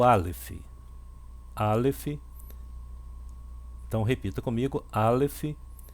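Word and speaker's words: אלף: O Aleph ele é mudo, tá bom? Ele não tem som nenhum.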